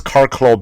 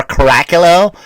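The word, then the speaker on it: Curracloe: supposed to be Normandy is car club Beach or karakilo As Americans say when they try to read Beach and um so what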